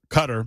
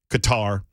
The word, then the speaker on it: Qatar: wag on the super text line regarding my pronunciation of the country of cutter which I've always called cutter Qatar and now people are laughing at me because